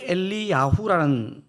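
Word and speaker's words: אליהו: 이게 원래 엘리야후라는 발음인데요.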